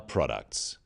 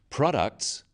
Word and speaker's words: products: About our products. After-sales service is critical. Stress occurs in words and sentences. In words, one syllable is stressed. The wrong stress makes it hard to understand. So, conclusion, not conclusion. Products, not products.